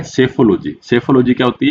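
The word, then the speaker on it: psephology: यहां पे friends piece silent है। इसको कैसे प्रोनाउंसिएशन करते हैं? सेफोलॉजी, जीनियोलॉजी और हेलियोथरेपी।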